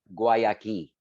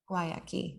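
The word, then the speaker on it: Guayakí: Guayaki. Guayaki.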